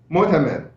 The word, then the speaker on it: Motamed: Motamed.